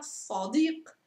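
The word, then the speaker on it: صديق: Vi do una parola, la parola sadiq. Sadiq vuol dire amico. Sadiq. Mentre samak, sa, sa, samak, so, sadiq, sadiq, amico.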